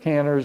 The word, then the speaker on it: Kanner: A lot of people mispronounce it. Kanner's name is Kanner, it's German.